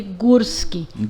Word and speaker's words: Gorski: eu tomei conhecimento que o acentuado tem o som deu entendeu é um acento agudo sonoridade é de gursky então eu faço questão